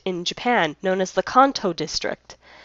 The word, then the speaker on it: Kanto: So the way it's actually pronounced in Japanese, which is how I've been pronouncing it, is Kanto. So just to clarify, You're not wrong, but I'm not wrong either. We're both in the right. Just because officially with the 4Kids dub they call it Kanto, but in Japanese it's pronounced Kanto, just like you would Johto.